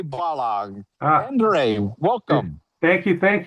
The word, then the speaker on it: Balogh: Oh, Balogh. Balogh.